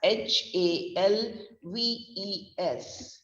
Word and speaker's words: halves: am writing it as h a l v e s but here the letter l is silent when we are speaking that word the letter l is